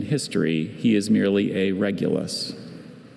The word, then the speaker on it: Regulus: Regulus has no alternate pronunciations.